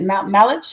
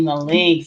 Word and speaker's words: Malench: say your last name is it malage malink malink malink like a train link yes all right Miss malink so she is an